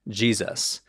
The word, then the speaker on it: Jesus: they were finally differentiated add some influence from Germanic languages which makes the S between two vowels sound like a z and we finally arrive at Jesus but let's complicate this